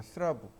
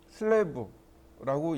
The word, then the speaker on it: 슬래브: 현장에서 스라브라고 하는데 스라브가 아니고 영어로 슬랩이라고 합니다. 슬래브라고 읽어요. 슬랩인데 그걸 조금 풀어서 읽으면 슬래브라고 읽고 일본 사람들이 발음이 안 되니까 스라브라고 한 겁니다. 슬랩 또는 슬래브 이렇게 읽으시면 돼요.